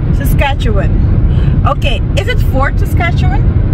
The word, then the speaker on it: Saskatchewan: course now babe help me sis Catan s Saskatchewan Saskatchewan okay is it Fort Saskatchewan it's okay so guys we're in for we're